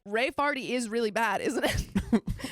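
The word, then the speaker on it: Raefarty: My sister wants to spell it Ray Farty. No. R-A-E-F-A-R-T-Y. Ray Farty.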